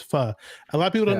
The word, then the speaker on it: Pho: with the Vietnamese soup well it's Pho so some people call it but it's actually the proper way to say it's fur a lot of people